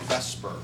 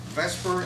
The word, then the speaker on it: VSEPR: lose it it will be a chart of Vesper before we go any further Vesper is an acronym but it's actually beer but